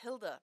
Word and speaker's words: Gilda: Um, so the our favorite was the they it's Hilda, pronounced Hilda, but it's spelled Gilda with a G.